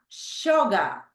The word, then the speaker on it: sugar: We have sugar. Sugar. Which one do you think is the stress syllable, Andrea? The first. Correct, the first one, right? Sugar. You can say sugar, American English, or sugar, British English.